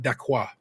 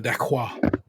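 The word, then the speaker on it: dacquoise: So, word to her, Dawn on the dacquois, which is one of the French words that they are forced to pronounce right because ain't no English way you're going to get to it. They are made to say it correctly.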